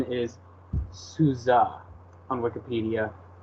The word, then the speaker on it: SUSE: matter the pronunciation is souza on Wikipedia which is like an amalgamation of most people like to say Susie or Sousa so I don't know